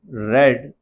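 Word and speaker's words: read: ये जो हम रीड है। ठीक है? हालांकि स्पेलिंग्स जो है हमारी सेम रहती है। आर ई ए डी रहती है। लेकिन क्या होता है? जब हम सेकंड फॉर्म या थर्ड फॉर्म में पढ़ते हैं तो हम रेड बोलते हैं।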